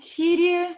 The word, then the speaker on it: Kyrie: First of all, keep those names in mind: Kyrie, Gloria, Credo, Sanctus, and Agnus Dei. Those are the words, that's the pronunciation, and it's all in Latin text.